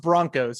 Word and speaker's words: Bronchos: I mean, it's pronounced Broncos. It's just spelled differently for some reason.